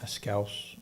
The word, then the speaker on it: Schous: Actually, you pronounce his last name how? Schous.